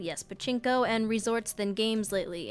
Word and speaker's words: pachinko: their, I don't know how to say this, pachinko? Yes, pachinko and resorts than games lately.